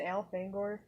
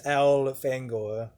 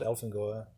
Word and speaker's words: Elfangor: his human name is al fangor which uh i guess that that kind of proves that it's pronounced alfang or not elephant goer it definitely is it's like al finger elf angor al fangor i always found